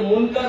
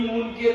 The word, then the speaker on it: মুনকার: দুজন ফেরেশতা একজনকে মুনকার বলা হয় আরেকজনকে বলা হয় আমরা ভাবে বলি মুনকের নেকির বলি একটু বিকৃত করে শুদ্ধ উচ্চারণ হলো মুনকার আর নাকির যারা অচেনা অজানা আমাদের